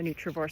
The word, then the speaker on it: Nutrivore: I developed a nutrient density calculation which I call the Neutravore score because my brand is Neutraore and that rhymes with score.